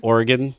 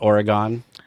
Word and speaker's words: Oregon: I'm gonna correct you real quick because you're doing the Midwest pronunciation. It's Oregon, not Oregon.